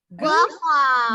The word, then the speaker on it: guava: Bacanya nggak boleh satu ya, satu-satu guava, tapi bunyi guanya jadi gua seperti huruf W.